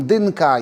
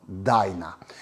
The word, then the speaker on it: Dyna: czyli o rodzinie DNA tak w Polsce mówi się na nią DNA niektórzy mówią dynka jeszcze inni dynia a Amerykanie wymawiają to jako DNA i dziś już niestety